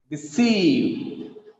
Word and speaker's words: deceive: The second example, deceive. The second syllable is stressed here. It has 2 syllables. The second syllable is stressed. Deceive.